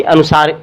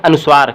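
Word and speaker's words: अनुस्वार: समझ लेते हैं कि अनुसार अनुसार क्या है इसका उच्चारण नाक से होता है इसे पंचाक्षर भी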